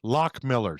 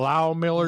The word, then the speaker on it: Lock Millers: It's pronounced Lock Millers. Lock Millers. Just like shuck around and find out. That's right, Tyler Shuck. Yeah. So because the receipt actually said how to say it. Oh, did it say? Because for all these years I kept calling it Low Millers or Loft Millers or whatever. It's Lock Millers.